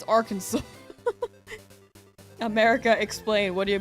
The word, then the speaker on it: Arkansas: someone just being like, "Why is this one Kansas and this one not our Kansas?" What do you mean it's Arkansas?